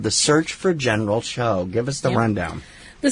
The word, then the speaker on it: Tso: Is it Gao? Is it Cho? Tsao? Everywhere spells it differently and everywhere pronounces it differently. Yes. Up here it's generally pronounced G-A-U.